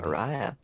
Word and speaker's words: Mariah: See that is it Mariah? Is that how we pronounce it? Sure, honey. Mariah. Sure. I'll say in Yes. Christmas album pronunciation, yes.